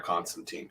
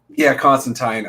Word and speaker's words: Constantine: However, Constantine. Neil's out there educating all of us that apparently it's been Constantine. It's been Constantine since Alan Moore created him.